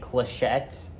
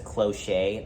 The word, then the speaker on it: clochette: So when I see people say, when I hear people say clochette, when they pronounce it as cloche, that drives me crazy. If there's two T's, et. If there's one T, silent.